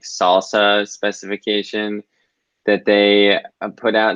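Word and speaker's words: SLSA: we push for osquery it's SSA but pronounced salsa apparently I send a link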